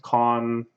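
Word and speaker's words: 館: So it's usually pronounced con.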